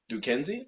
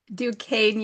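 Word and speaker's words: Duquesne: Duke Kenzie. How do you pronounce it? Dukane University.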